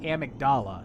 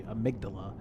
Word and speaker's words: amygdala: A character in this game pronounces it amygdala, and I think that's incorrect. It's actually amygdala.